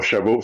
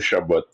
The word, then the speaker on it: Chabot: Le T à la fin de Chabot n'est pas silencieux. Donc, on le prononce. C'est pas Chabot, c'est Chabot.